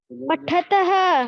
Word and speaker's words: पठतः: पठत।